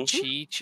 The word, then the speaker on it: Cheech: I think it's Che. The H is silent. That's Cheech. That's Cheech Chong.